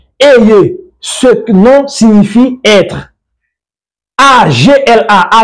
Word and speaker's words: Agla: A, G, L, A, Agla, qui se prononce comme il s'écrit et qui renferme hiéroglyphiquement tous les mystères de la Kabbale.